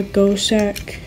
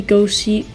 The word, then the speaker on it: Gocek: guess really nice no I go sack go check I keep saying I don't know I think it's been that pronounced go check it could be go seek goat sat I think it's go check though so I guess you